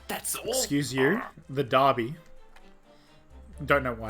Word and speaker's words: Derby: I'm gonna do it just because I love those how to pronounce videos. Put another horse on the Derby.